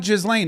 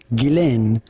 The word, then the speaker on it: Ghislaine: Now the question is on her first name more than anything which is of French origin and in French it